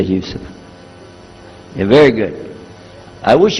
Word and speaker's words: Yusuf: Can you say Yusuf? Let me say Yusuf.